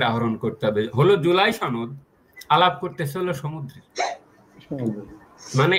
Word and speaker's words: সনদ: লক্ষ্য করেন, আলী রিয়াজ বলছেন যে এই সনদ, লক্ষ্য করেন সনদ না কিন্তু নতুন উচ্চারণ হয়েছে, আবার এটা খেয়াল রাখেন, সনদ, সনদ। এখানে কিন্তু মাখরাজটা ঠিক রাখতে হবে।